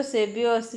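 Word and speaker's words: सेव्योऽस्मि: बच्चों सेव्यो अस्मि में देखो एस के जैसा जो बना हुआ है उसका अ उच्चारण होता है, ठीक है।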